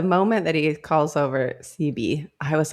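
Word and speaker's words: Cyby: And he calls over CB. I'm gonna pronounce it CB. I was like Sci-Bi, but I thought CB too, just because it was cuter.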